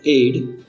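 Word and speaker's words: aide: ये वाला स्पेलिंग तीसरे वाले वर्ड के ऑलमोस्ट सेम है, सिर्फ लास्ट में ई आ जाएगा और प्रोनाउंसिएशन सेम रहेगा, मीनिंग्स बदल जाएंगे।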